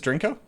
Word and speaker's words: Drinko: Okay, and I am pronouncing it correctly now, right? It is Drinko?